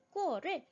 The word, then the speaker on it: 过: 조사로서 사용이 되어질 때는 발음기호를 보시면 성조가 없어요 경성으로 갑 볍게 읽어 주시면 되고요이 어가 동사로서 지나가다 혹은 어떠한 시간을 겪다네 그러한 의미로서 사용이 되어질 때는 성으로 읽어 주어야 합니다 그는 베이징에 가본 적이